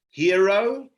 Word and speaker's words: Jairo: brand that we're launching it's pronounced hero and it's spelt jairo so the i has